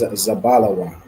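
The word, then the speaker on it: זבולון: out and okay the correct answer is zabala Wan zabala Wan is Zebulon in MRE all right well then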